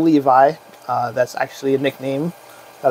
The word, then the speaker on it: Levi: i'm right about it it's actually pronounced le v in hebrew ah so yeah that's